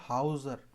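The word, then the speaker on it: Hauser: इसको मैं वैसे लिखूंगा नहीं, इसको आप हौसर मत बोलिए, इसको आप बोलिएगा हाउसर, मतलब जो घर दे रहा है। एक्चुअली ये शब्द जो है वो जर्मन वर्ड है, हाउसन से कोई शब्द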